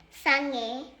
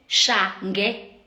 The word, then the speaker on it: Shange: Your surname is Shange, not skhotheni. Sange. Shange. Sange. Aisa. Shange. Sange. I just. Yeah, but you're not saying it right.